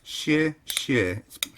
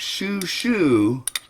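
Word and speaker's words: 谢谢: you in Chinese, it's xie xie. The transliteration is spelled Xie Xie. And it's not shu shu, it's xie. Xie. Xie xie.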